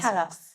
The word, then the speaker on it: Talos: Or is it Talos? Is that how you pronounce it? Talos. Yeah. Talos.